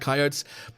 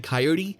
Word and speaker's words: coyote: or talking about coyotes, I was saying coyote, because that's how Australians kind of say coyote. I think it's regional. I think they're both kind of correct, but I will, from now on the podcast, I will officially be going with the American pronunciation of coyote.